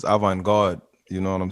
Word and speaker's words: avant-garde: to my french people i think it's a vanguard home so my people that speak french is avant-garde you know what i'm